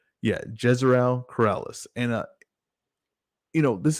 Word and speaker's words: Jezreel Corrales: opener you got uh ryo valenzuela versus uh gerzell corrales so make sure i'm pronouncing this correct yeah jezreel corrales and uh you know this is uh ryle